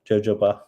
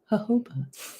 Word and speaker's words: jojoba: Jojoba oil. Jojoba. Jojoba.